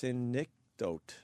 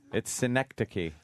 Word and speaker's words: synecdoche: Someone is saying it's pronounced synecdote.